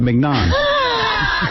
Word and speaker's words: mignon: So Scott says, you're pronouncing it right, mignon.